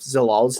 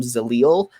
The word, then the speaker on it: Zalal: stood out to me most was that you pronounced yusef zalal's name correctly for i think the first time in the history of our show and then you went back to calling him zalil like 15 seconds later so that kind of